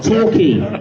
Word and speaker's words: Torquay: you like Queen, you can understand why people pronounce the name of the business wrong. But it's Key, Torquay, New Key, Quayside, Car Key.